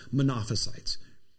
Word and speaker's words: Monophysite: nature now it's pron usually pronounced as monophysite sadly just as those